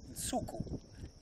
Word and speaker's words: Nsuku: And so Nsuku is how we say it. And that's the Xitsonga word, and it's spelt.